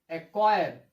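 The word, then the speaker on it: acquire: कब, जब सी के बाद के या क्यू आता है तो सी का उच्चारण हम नहीं करते हैं।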